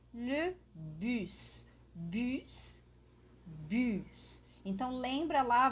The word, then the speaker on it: bus: temos aqui a primeira palavra que é le bus bus bus então lembra lá vai lá no meu vídeo sobre a pronúncia do francês para vocês aprenderem a pronunciar